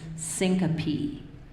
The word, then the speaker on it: syncope: before the definition okay syncope Cinco pain loss of consciousness resulting from a rest of the blood supply to the brain the more common pronunciation is syncope by and copy2 capiche